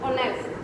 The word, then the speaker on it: honest: So as H is silent here, so honest, R, ear.